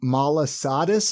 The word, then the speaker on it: malasada: Jack's Donuts, and then Clark's Malasadas.